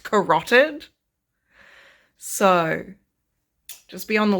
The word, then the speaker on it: carotid: I'm about to read the quote right now, and I'm going to say carotid artery, as though my ass isn't watching House MD 24/7 and know perfectly well that it's pronounced carotid.